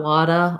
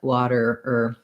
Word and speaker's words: water: So not wada or wata, but water, You can build it from the der, water.